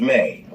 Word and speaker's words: me: eni is the memes pronounced May in Sumerian culture Mees were divine decrees